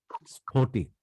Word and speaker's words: স্ফটিক: এর বাইরে প, ফ যখন শব্দের শুরুতে এর সাথে যুক্ত হয়, তখন উচ্চারণ প্রবণতা এস এর দিকে যায়।